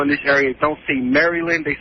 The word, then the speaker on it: Maryland: here they realize that people don't say maryland they say merlin yeah the merlin how